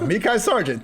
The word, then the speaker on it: Mekhi Sargent: And we also have, we got Dontrell Hilliard and Dwain, since you're now the resident pronunciation expert, Mekhi Sargent. And if I'm wrong on that, okay, there we go. Mekhi Sargent.